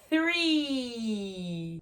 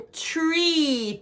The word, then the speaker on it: three: Você tem que sim colocar a língua entre os dentes. Vou até chegar um pouquinho mais perto aí, ó. Se você não sabe, tem um vídeo meu explicando passo a passo de como pronunciar o TH. E o número 3 é three e não tree.